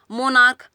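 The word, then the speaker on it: monarch: मोनार्क यानी कि राजा महाराजा वाला देश जो राजतंत्र होता है, तो मोनार्क सी एच से भी लास्ट करा लेकिन प्रोनाउंसिएशन क्या है, क, तो हम इसमें एस लगाएंगे।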